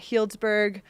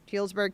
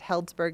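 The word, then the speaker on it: Healdsburg: Sam works at Hiltsburg Running Store in Helsburg, California. I've been saying the name wrong earlier. I think I said Hellsburg a few times, so my bad there.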